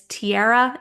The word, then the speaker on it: Tyarra: through Instagram if you'd like my name is Tiara it's spelled t y a r r a uh so Tiara over on Instagram also have the business